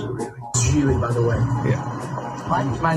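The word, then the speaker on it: Gigli: Yeah, it's pronounced Geely, rhymes with really. Geely, by the way. Yeah. My name is pronounced Geely. It rhymes with really.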